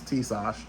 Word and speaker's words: Tisas: of the tsus that tases uh or tses I should say because the correct pronunciation is Tash I haven't had any